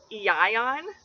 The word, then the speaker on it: Ewan: This name can also be pronounced Ion, which I think is closer to how they would pronounce it in Wales.